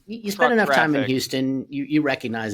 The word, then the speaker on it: Houston: is some evidence that based on accents that Sam HST actually may have pronounced it houseon not Houston uh but I will not